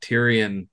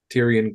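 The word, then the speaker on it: Tirian: It's spelled T-I-R-I-A-N. There's not a single Y in it. Yeah, for anyone keeping notes, Co is spelled Q-A-O. Tyrion Quo.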